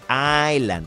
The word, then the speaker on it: island: es Island es Island no se pronuncia Esa primera s aylan no se dice Island